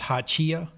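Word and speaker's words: Hachiya: First thing is come up on the pronunciation. This is hachia.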